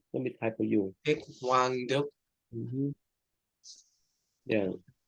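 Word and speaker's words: Thích Quảng Đức: Thích Quang Đức. Let me type for you. Dick Wang Duk. Mm-hmm. Yeah, Thích Quang Đức.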